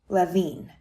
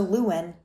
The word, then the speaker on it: Lewin: His last name was pronounced Levine for the first half of his life, but he changed it to Lewin after he moved to the United States. People kept mispronouncing his last name and had trouble reaching him in his office. To make it easy, he simply changed how he pronounced it.